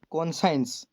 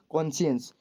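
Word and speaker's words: conscience: सब लोग इसको, मतलब कि सब लोग नहीं, बहुत लोग इसको मतलब कि पढ़ते समय प्रोनाउंस के टाइम गलत कर देते हैं। जैसे उसको बोलते हैं कॉन्साइंस, ठीक है। इसको ये कॉन्साइंस नहीं है, इसको हम बोलते हैं कॉन्शियंस।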